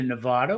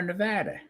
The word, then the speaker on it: Nevada: Well, here it's either Nevada or Nevada.